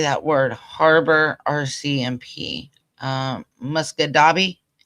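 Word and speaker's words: Musquodoboit Harbour: word harbor RCMP um muscadabi is that how it's pronounced musk Muskadabit Muskadabit. Okay. So, Muskadabit Harbor.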